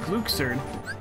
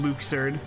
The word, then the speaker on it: Luxord: I like Luxord, and I'm gonna keep calling him Luxord, because that's how his name is pronounced. Apparently.